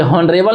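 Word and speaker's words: honorable: ये ऑनरेबल नहीं है, यहाँ पे एच साइलेंट है। बताइए यहाँ पे क्या है? एच साइलेंट है, तो ये ऑनरेबल पर्सन है।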